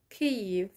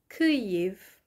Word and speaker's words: Київ: the capital comes to mind which is kiev cave so uh the capital of ukraine kiev and other cities um in northern ukraine include